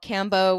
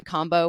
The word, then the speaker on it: Kambo: In America, it might be called Cambo. We might go back and forth. I'm trying to unlearn cambo and go back to combo, which I think is is kind of the correct way to pronounce it.